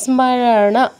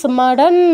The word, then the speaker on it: স্মরণ: স্মারারনা। স্মারারনা এটাকে কিন্তু আবার স্মারান বললে হবে না। কারণ ন এর নিচে কোন হসন্ত নেই। ন এর পূর্ণ উচ্চারণ করতে হবে। স্মারারনা স্মারারনা।